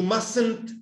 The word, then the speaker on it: mustn't: You mustn't speak. Es una variación. La negación de must se pronuncia mustn't. ¿Ya? Must. Con T. En mustn't, esa primera T no se pronuncia.